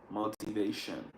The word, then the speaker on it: motivation: sometimes they say motivation motivation but an American would never pronounce Mo they would never pronounce this t as a t it's more like a d motivation motivation M motivation